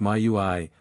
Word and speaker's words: Maui: Maui is a demigod whose name should probably be pronounced Maui, i.e., Maui.